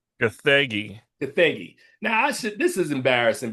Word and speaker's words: Gathegi: David Cornsweet, Rachel Brosnahan, Nicholas Holt, Edie Gathagi. Gathegi.